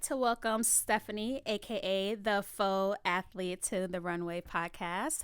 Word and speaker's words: faux: It's not fox. It's faux. She's. Yeah. Is that a British term? It might be. Faux is it's French. It's a French word.